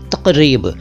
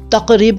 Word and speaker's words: तक़रीब: तो आज का पहला शब्द है तक़रीब। तक़रीब को तकरीब ना कहें, यह तक़रीब। तक़रीब का मतलब होता है उत्सव और इसका प्लूरल है तक़ारीब। तक़ारीब नहीं, तक़ारीब।